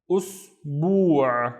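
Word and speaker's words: أسبوع: So the first syllable we have us with a dhamma here, and then bu', bu', usbu', which is a week. Usbu'. Next one, let's split that into syllables.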